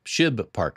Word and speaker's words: Shibe Park: Shib Park, I think is the correct pronunciation.